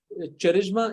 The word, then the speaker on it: charisma: little bit of correction charisma is pronounced with a k like in the like the actual charisma so you pronounce it with the k and not with the ch and if you uh